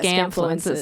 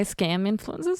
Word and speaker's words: Scamfluencers: Is that how you say it? Yeah, Scamfluencers. I was going to say scam influencers.